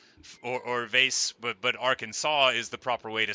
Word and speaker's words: Arkansas: now but uh no Arkansa is like the that's how you say it um uh but nobody who hasn't heard it would ever get it right like literally no one and there's a state directly next to us called Kansas which is spelled the same way but without the A and the r at the beginning and it is called Kansas and only Kansas and uh and that's